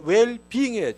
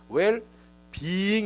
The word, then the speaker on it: 웰빙: 이에 웰빙이 잘 되는게 웰빙의 추 악기 1항의 때 배운 영어 다나 요 어려운 말단이 우린 자꾸 웰빙 웰빙 그런데 웰빙이 아니고 진짜 정확하게 웰 비잉 이에요 또 웰 발음이 애를